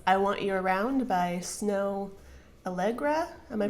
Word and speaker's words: Snow Allegra: next song is I want you around by snow algra am I pronouncing that correctly yep it's I love this